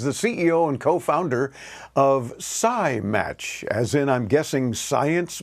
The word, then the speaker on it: SciMatch: I'm really excited to share with you things we do at SciMatch. Oh, and you actually pronounce it very, very correctly. Okay, so good. It's science with match.